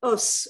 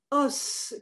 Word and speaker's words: os: In its plural form, os could be pronounced os or o, and thus homonymous with O, water, or waters.